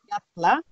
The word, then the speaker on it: fjalla: Jatla, Jatla, very good.